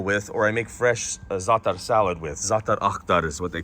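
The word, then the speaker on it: za'atar: uh zifran or zithren zifren or zithren it's zatar but it's really potent they put it in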